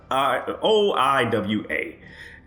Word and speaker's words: Oiwa: I'm gonna call her Owa. It's Oiwa. So, since I've never heard this word pronounced, we're going to go with Owa, because the other one was Iowa. I don't know, that sounds like the state.